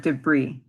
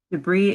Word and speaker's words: debris: we have the word debris now even though this word is spelled with an S you don't actually pronounce the S at the end debris is a scattered piece